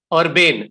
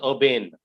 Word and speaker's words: urbane: one more word is urbane you are b-a-n-e that you are ba you are b-a-n-e like urban urban urban okay sir okay urban is a different word this is urbane okay okay all right